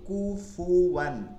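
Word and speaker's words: كُفُوًا: পড়ার সময় খেয়াল করব কুফ না বলি কুফুয়ান কুফুয়ান ঠিক আছে ফু উচ্চারণটা একদম ক্লিয়ার করতে হবে পেশ দিয়া কুফুয়ান সমতুল্য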